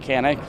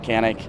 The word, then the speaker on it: Canik: from Turkey of Kanak they call it connect we call it Kanak mechanic it's Kanak there's Kanak hard parts